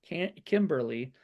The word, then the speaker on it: Kymberlie: She was played by Kimberly, and it's spelled Kymberlie, which is an interesting way to say Kimberly.